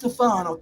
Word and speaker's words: Tufano: Her name is technically pronounced Tufano.